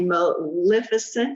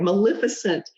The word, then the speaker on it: Maleficent: You created a Maleficent. Did I say it right? Yes. All right, Maleficent costume.